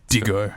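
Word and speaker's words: Diigo: Is it D-I-I-G-O? D-I-I-G-O. Like Digo.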